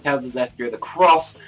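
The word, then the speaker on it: Tales of Zestiria the X: Zestria the X, but it's pronounced Cross, so it's Tales of Zestria the Cross, and I'm looking forward to this.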